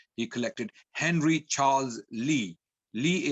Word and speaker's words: Lea: Lee is spelled with L-E-A.